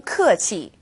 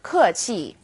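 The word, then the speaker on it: 客气: And if you were to say 谢谢 or 客气 as two definite fourth tones, people would still have no problem understanding what you're saying.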